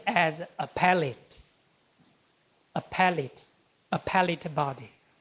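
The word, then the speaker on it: appellate: Some Chinese people say upate. Appalate. Appalate. Strange, right? It should be pronounced as a pallet. A pallet. A pallet body. Okay. You know the third syllable from the last should be stressed.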